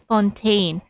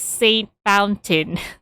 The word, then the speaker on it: Fontaine: i keep on pronouncing i keep on pronouncing it as saint fountain but i know for a fact that it's supposed to be read to be read as fontaine but those tales are